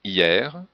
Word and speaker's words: hier: Il y a des exceptions comme hier, hiver, fier, et le mot tiers, le S n'est pas prononcé, mais le R oui.